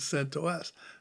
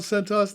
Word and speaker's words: CentOS: years ago in Unix if it was an acronym you didn't pronounce it as a word you didn't say Centos yeah you said you said c to us I've been pronouncing it